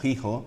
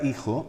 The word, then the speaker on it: hijo: Actualmente es una H muda que no se pronuncia, pero que viene de la F. Fíjate que sí de la F inicial latina, por ejemplo. Y la palabra hijo viene en latín filium.